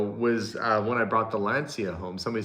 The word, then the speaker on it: Lancia: Somebody said it's pronounced Lancia, and then somebody said it's a Lancia, and then they got into an argument back and forth. But here, where I am in Canada, they would say Lancia. And because it's spelt that way, I guess, L-A-N-C-I-A. But I know in Italy, maybe it's Lancia.